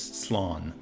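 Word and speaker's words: slán: I know I butchered that when that liquid pronounces Sloan okay fun losers oh foreign we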